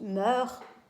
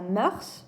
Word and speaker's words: mœurs: les coutumes, les habitudes, ça s'écrit M-O-E dans l'eau U-R-S, et ça se prononce mœurs, et non pas mœurs, parce que si vous prononcez mœurs, on est dans plutôt une dimension policière, on parle plus de la brigade des mœurs qui s'occupe par exemple